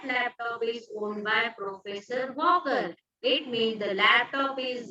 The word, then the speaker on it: Walker: Which letter is silent here when we say Walker? Walker. L. L. L is not supposed to pronounce. So L is a silent letter.